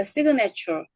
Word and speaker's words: signature: signature. signature. 여긴 얘는 비음 앞에 얘가 있지만 비음이 단어 끝에 있는 건 아니잖아요. 그러니까 얘는 그 어떻다 이때는 발음이 된다. signature. signature. 그 발음이 되죠.